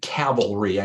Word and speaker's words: cavalry: different um different cavalries notice I said Cavalry I pronounced it correctly by the way by doing the accent some people have a problem it's hard for some people and others by the way for me to pronounce it but but you had